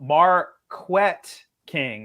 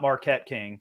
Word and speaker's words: Marquette: I was once told by the former punter, I don't think he's in the league right now, Marquette King is actually how you say his name, not Marquette King.